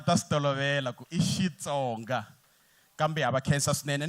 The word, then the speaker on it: Xitsonga: So how you say it is not Kri, it's she Tsonga. Aha, a hi swi beleni mavoko swinene. Ani va ha ku fika va ta swi tolovela ku i Xitsonga.